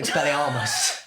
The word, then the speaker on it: Expelliarmus: know better say Expelliarmus instead of Expelliarmus. Expelliarmus. Yeah, and it does make it sound like a bowlerama.